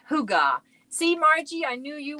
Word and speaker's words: hygge: It's pronounced Hygge.